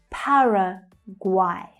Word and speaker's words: Paraguay: Paraguay. Paraguay. So the first syllable is stressed and the third syllable is quite interesting. It's pronounced guay. Guay. Paraguay.